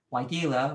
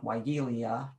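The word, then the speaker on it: Weigela: are the bee bombs why gila which a lot of people make weigelia they just put an extra eye in there kind of like the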